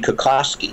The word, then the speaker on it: Kokocki: It should be Kokocki, or Kokocki is the Polish pronunciation.